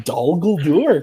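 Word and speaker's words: Dol Guldur: him to do gour look at you pronouncing do gour correctly I know man oh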